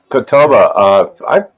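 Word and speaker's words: catalpa: leaf, but they're called catalba trees. There's Mike. Hey, Catawba. I've heard of those. Catalba, as I guess you Yeah, call it. I can't. 8 ways from Sunday to pronounce it.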